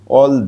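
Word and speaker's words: all: হবে না অল কারণ এর পরে যখন ডবল এল থাকবে তখন উচ্চারণ হবে অল এটা তোমরা মনে রাখবে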